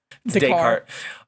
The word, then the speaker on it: Descartes: How do you pronounce it? Descartes.